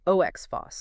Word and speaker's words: OXPHOS: And that's pronounced ox foss.